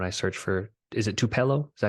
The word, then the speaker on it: Tupelo: When I search for, is it Tupelo? Is that how you pronounce it? Yeah, Tupelo.